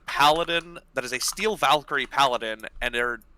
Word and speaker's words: VA1KYR13: Valkyrie paladin, and its name is VA1KYR13, or Valkyrie. It was VR. Say the name again, because sorry, VA1KYR13. VAR1. No, VA1. VA1. KYR. KYR. 13. Valkyrie. Valkyrie. Yeah, I see it now. Valkyrie spelled with numbers.